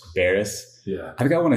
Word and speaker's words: Beres: it how do you say your last name Baris Baris yeah I think I want to say it